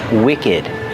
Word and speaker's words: wicked: And we have the word wicked. Wicked has a short sound too. And we pronounce the ed d like together.